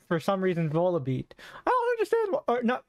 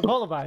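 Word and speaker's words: Volbeat: Oh, like Braviary or for some reason Volibeat. I don't understand. Or Volibee. That's how you pronounce it.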